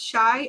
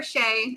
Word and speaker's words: Shai: So, Dedra says, "Shai is pronounced shy according to Aesthetica." Shai. That That's what she's asking. Is shy pronounced shy? Like I'm shy. Yeah, I think shy is what I've been hearing. Shy or shay? It depends. I mean I think in their live they said shy.